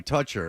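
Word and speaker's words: Toettcher: And I said, "Okay, but if you spell it t o e t c h e r, you might as well just, you know, put a symbol." Like, no one's going to know that's toucher, so just spell it phonetically.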